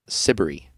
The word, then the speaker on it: Siberry: an artist named Jane sibery which rhymes with slippery yeah I'm glad that